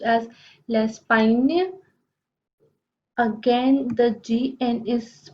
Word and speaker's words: Espagne: The next country is Spain and it is pronounced as l'Espagne.